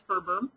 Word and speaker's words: FRBR: to it as FBR some people pronounce it as Ferber and here's a very